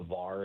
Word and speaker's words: VAR: So, the the VAR is the correct way to say it.